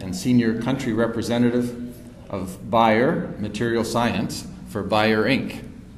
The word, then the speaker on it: Bayer: good reliable source that the proper pronunciation of this German company is buyer but it's perfectly acceptable to pronounce it as bear in North America right